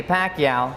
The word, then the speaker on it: Pacquiao: I'm certain the future is going to be tremendous for the Pac-Man, Manny Pacquiao.